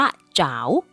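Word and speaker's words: 找: แปล ว่า นี่ คือ คำ ว่า จา ใน ประโยค นี้ ออก เสียง ว่า จ๋าว มี ความ หมาย ว่า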